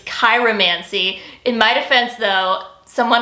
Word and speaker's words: chiromancy: palmistry or chiromancy okay i understand that i pronounced that incorrectly it's cairo mancy in my defense though someone online told me it was pronounced chiromancy so i trust the internet i mostly focus